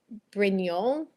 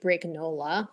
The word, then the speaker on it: Brignole: Okay, so I think it was originally Brignole. Brignole, I think, because that's also a place in Italy. But then my dad and his dad, who spoke Neapolitan, so I don't know why, pronounced it Brignola, like Brignola. Every Italian who's ever heard it has just absolutely freaked out. I'm like, that's not how you pronounce it.